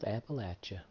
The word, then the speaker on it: Appalachia: homie explore the West Virginia wasteland good old Appalachia I know that's the proper pronunciation but I dislike it I'd rather say